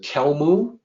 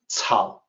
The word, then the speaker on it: 草木: It looks like it might be pronounced kelmu. That's not correct. In pinyin, the C is actually cao. So this is supposed to sound like 草木, and this is potentially